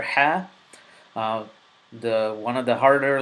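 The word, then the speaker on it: حاء: throat letter so is the letter ha it's deep comes from the deepest part of your throat very throw a little bit throaty letter and it is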